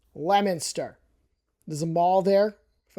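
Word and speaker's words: Leominster: It's not Leo Minster. If I were a kid looking at a map, I would say Leo Minster, but no, it's Lemonster.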